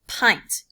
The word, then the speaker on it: pint: even though it looks like pins it is pronounced pint Aviation is Petey a pint is about two